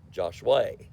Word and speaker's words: Joshua: The natives call it Joshua, but I call it Joshua because that's the way it's spelled.